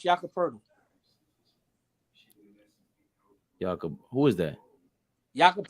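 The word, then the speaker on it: Jakob Pöltl: one of the first people I've ever heard pronounce Jakob Poeltl.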